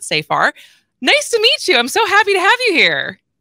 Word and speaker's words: Safar: The executive director of Law Forward, Nicole Safar, who I've been saying it wrong. It's Safar, not Safar.